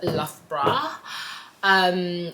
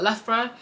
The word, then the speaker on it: Loughborough: It's called Loughborough. When you see it written, you probably wouldn't be able to pronounce it. But yeah, it's called Loughborough.